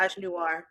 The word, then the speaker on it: misogynoir: I am always so bad at pronouncing the word. so, Yeah, is it misogynoir? Is that yeah, how you say it? massage noir.